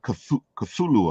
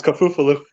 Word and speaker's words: Cthulhu: He put a good Cthulhu up.